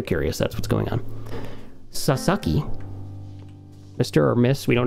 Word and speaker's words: Sasaki: then somebody else we got here sounded out sa sa ki another very common last name sasaki and i